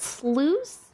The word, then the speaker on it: sluice: wow nice it's pronounced sluice like juice but with Slough instead